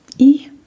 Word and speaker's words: I: And very confusingly, it is just spelled the same as when I want to say I. Yay. I I not confusing because this is English. Yeah. Okay. So it's different. Yeah. So E just E just means you.